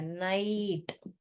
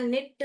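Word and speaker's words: night: जैसे कि हमने यहाँ पर देखा है नाइट, तब आप नहीं लिखोगे ऐसे न आई ट, ये क्या हो जाएगा, निट हो जाएगा। न आई ट, नाइट ऐसे लिखोगे तो गलत हो जाएगा।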